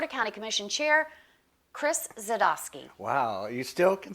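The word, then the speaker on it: Dzadosky: Please welcome back the one, the only Board of County Commission Chair, Chris Zadosky.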